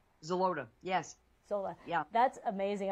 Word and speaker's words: Xeloda: that you mentioned that I don't want to pronounce wrong? Xeloda, yes.